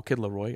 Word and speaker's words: The Kid Laroi: Well, Kid Laroi, I say it like that because, you know, the French accent from Montreal.